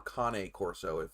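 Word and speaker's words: Cane Corso: wayne he's uh he's a king corso or kanye corso if you got to say it properly um but uh literally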